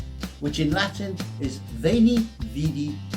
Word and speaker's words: vidi: in Latin is Veni, Vidi, Vici. Except some people pronounced it slightly differently, and they would pronounce the V as a W. So some people think he said weenie, weedy and weaky, thereby dividing